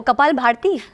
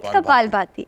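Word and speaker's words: कपालभाति: I tell them please it's नॉट कपाल भारती इट इज कपाल भारती pronounce it properly मैं भी कपाल भारती बोलता था आई स्टैंड नट कपाल भारती कपाल भाती ओके एंड व्हाई आर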